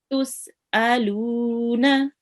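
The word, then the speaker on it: تسألون: Tus'aluna. Tus'aluna. Okay, remember this is hamza. It looks like an ain, but we have to pronounce it exactly like an alif.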